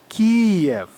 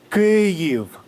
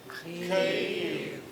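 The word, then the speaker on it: Kyiv: Some people pronounce the city KV. This is incorrect. This is the Russian way. Let's practice. Cave. Cave.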